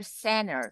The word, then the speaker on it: center: are talking about that when we have the combination of the n and T we can omit the pronunciation of the T so we can that's